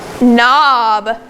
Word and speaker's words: knob: So first of all, I want to see if anyone remembers, what sound does KN make? It makes the sound. Let's read some words quickly that have the sound spelled K-N.